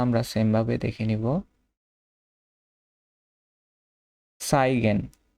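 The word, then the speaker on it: zeigen: সাইগেন, সাইগেন এটা আমরা হচ্ছে যে ছয়ের মতো উচ্চারণ করব, ছাতার ছ মানে টু শো দেখা।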